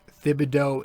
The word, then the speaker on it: Thibodeau: pronounce tom thibodeau's name is it thibodeaux is it fibs no it's thibodeaux and tibs i'm pretty sure i'm still not 100 sure uh but that's what i've